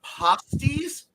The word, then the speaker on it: pasties: No, in the Upper Peninsula of Michigan, the word pasties, and it's pronounced like that, is spelled like that, and it is a rather hard to describe.